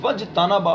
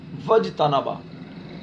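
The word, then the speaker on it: واجتنبا: اب دیکھیے اجتنبا سے پہلے واو آیا تو اب حمزہ ہو گیا درمیان میں. جب یہ درمیان میں آ گیا تو اب آپ اس کو پڑھیں گے نہیں. وجتنبا فدخل، تو یہ نظر آ رہا ہے لیکن پڑھنے میں نہیں آ رہا، اسے کہتے ہیں حمزہ وصلی.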